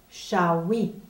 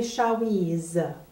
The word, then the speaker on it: Chaoui: Le S n'est pas prononcé, comme vous avez déjà vu. C'est pas prononcé Chaouiz, c'est prononcé Chaoui.